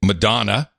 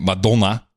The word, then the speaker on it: Madonna: was on the show I'm famous in the Netherlands for saying Madonna where everyone was pronouncing it medulla so in the 80s